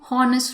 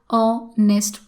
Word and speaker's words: honest: doesn't come like har h sound is silent here so we are free